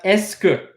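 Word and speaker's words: est-ce que: way which is using a scope okay we can use this there's so many letters in here but it's literally pronounced as esker like the letter s good I don't know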